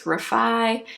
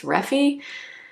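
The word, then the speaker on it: Refy: Some of you have been telling me that you think it's Rafi. I've seen so many videos though where Katie Jane Hughes and uh Jess Hunt, who's the founder of this brand, say that everyone's saying it wrong that it's Reffy. But I don't know. So Rafi, Reffy, I'm not sure.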